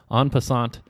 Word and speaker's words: en passant: En passant. That's pretty darn close to the actual pronunciation, and indeed it is the correct answer. En passant is the answer.